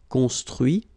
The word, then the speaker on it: construit: Okay, so you can notice that even if I put this final T, so as usual, I don't pronounce it. Okay, conduit, construit, cuit, détruit, instruit.